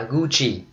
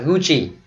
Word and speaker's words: Gucci: Chữ này mình đọc là Gucci, đọc theo tiếng Ý bởi vì nó có nguồn gốc từ tiếng Ý. Ok, chứ mình không đọc là Gucci, Gucci là sai. Ok, đọc là Gucci.